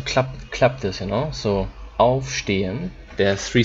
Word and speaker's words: aufstehen: If it's a German word, zum Beispiel auf, aufstehen. Okay, so the emphasis is on auf.